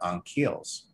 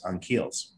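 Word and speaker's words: Ankheles: in the book as ultra-terrestrials, known as the Anhkeles. And that name is spelled out on the board there in the screenshot, A-N-K-H-E-L-E-S, Anhkeles, okay, plural.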